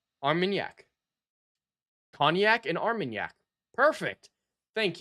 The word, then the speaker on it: Armagnac: The pronunciation guide. Armagnac. Armagnac. I think I got it. Armagnac.